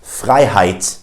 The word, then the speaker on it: Freiheit: If you see the combination of EI, it's pronounced I in German. For instance, in words like Freiheit, which means freedom in German.